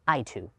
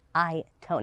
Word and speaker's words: AITO: Now, when you first see the name here, you might think it's pronounced Aito. I certainly did, but it is Aito.